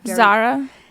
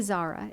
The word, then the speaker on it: Zara: me to walk into some of these like Zara? People love Zara, and I know. How do you say it, by the way? My friends make fun of me. I say Zara.